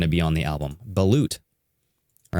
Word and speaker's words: balut: I don't know how to pronounce this. B-A-L-U-T, right?